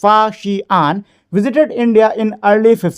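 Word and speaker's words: Faxian: Chinese traveller फाशियान pronounced S फाशियान visited India in early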